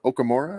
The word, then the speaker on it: Okamura: He says Okamura. I got to say it right or he'll beat me up.